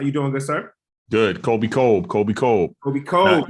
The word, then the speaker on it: Colby Colb: Colby Colb. Colby Colb. Colby Colb. Not corner the Cobb.